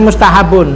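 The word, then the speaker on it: مستحب: Ya, mustahabun. Yang benar mustahabun.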